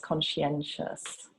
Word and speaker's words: conscientious: So it's pronounced conscientious. Conscientious. People get mixed up with conscience.